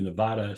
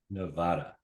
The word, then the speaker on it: Nevada: you are in Northern Nevada Nevada yes Nevada you gota say it right only those that aren't from Nevada say it incorrectly right correct correct we get